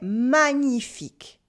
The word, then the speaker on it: magnifique: Or c'est magnifique or magnifique. That's wonderful. C'est magnifique. Repeat after me. C'est magnifique. Here we have the tricky ñ sound in the middle.